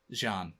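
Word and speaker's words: Xi'an: The Zion Scout? Jean, actually. Jean. Zion. Alien pronunciations are very difficult.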